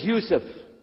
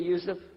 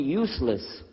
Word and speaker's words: Yusuf: work on it Shalom my name is Yousef he say Yousef he said Houston very good I wish you teach my wife she keeps mispronouncing it she calls me useless humbly now how many